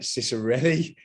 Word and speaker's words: Cicirelli: excited to have on the show e cicerelli did i pronounce that correctly you did pronounce it correctly